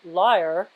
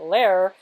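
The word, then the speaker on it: lyre: looking into buying a liar and i my last video i guess i was saying a lair um and then uh somebody said oh i used to pronounce it i realized that when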